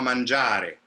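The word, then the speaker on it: mangiare: it so andiama manjari i know that you have to land on manjari and the last syllable doesn't disappear but it definitely doesn't have the same kind of importance that manjar the ja has or for example um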